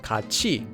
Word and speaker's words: 같이: Second, whenever you have a digut before the sound he, the he sound becomes pronounced as chi. For example, this word would be pronounced as 같이다 and not 같이다.